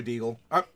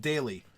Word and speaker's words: Daily: Oh, gotcha, Deagle. Not Deagle, Daily. Your name is pronounced Daily, Daily, Daily. I pronounce Daily, Daily.